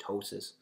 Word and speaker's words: ptosis: color next one is ptosis which just means lowered position of an organ you see there's a pee in this in this term but we actually don't pronounce it it's just ptosis and you can think